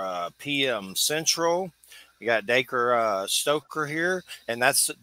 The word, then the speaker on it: Dacre: friday night 704 uh p.m central we got daker uh stoker here and that's daker stoker i